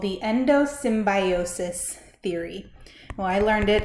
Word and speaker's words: endosymbiosis: two organelles is defined by something called the endosymbiosis theory. Well, I learned it as endosymbiont. Doesn't really matter. It means the same thing. So whichever I say, that's what I mean. Endosymbiosis or endosymbiont theory.